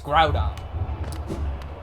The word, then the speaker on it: Groudon: hey look at the room that's why it's groudon but yeah people mispronounced pokemon names all the time yeah those